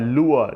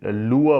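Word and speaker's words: lure: next word यहां पर लोअर देखिए लोअर बोला जाता है लेकिन प्रनंसीएशन इसका लुआ होता है आर यहां पे ना साइलेंट रहता है ना तो वर्ब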